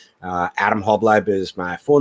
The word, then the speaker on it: Halbleib: How do you say it? Really. It's Halbleib. Halbleib? Halbleib, yeah. Like Halbleib.